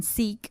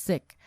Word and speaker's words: Sikh: were taught that it's sick so i was a bit shocked that people pronounce it as seek but it's not with double e yeah it's sick and it's sikhism and